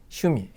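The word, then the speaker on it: 趣味: 흥미 관심이란 단어를 알아두시고 취미로 발음 나는 것은 2번이고요 어떻게 읽는다 슈미 슈미라고 일지 않도록 장엄 아닙니다 짧게 슈미라고 읽어주시면 되겠습니다 자 다음 이제 세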